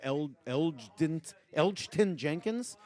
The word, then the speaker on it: Elgton Jenkins: Elgton Jenkins, the center from Mississippi State. G is silent.